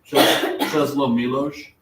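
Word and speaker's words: Czesław Miłosz: Czesław Milosz.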